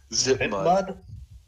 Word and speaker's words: Zip mud: How you say it? Zip mud. Zip mud. Just like it looks, zip mud.